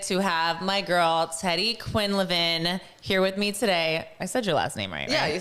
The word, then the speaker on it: Quinlivan: __ ] excited to have my girl Teddy Quinn Levin here with me today I said your last